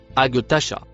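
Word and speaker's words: أغطش: La lettre noire se prononce o c'est la conjonction et le premier mot en violet se prononce agtacha.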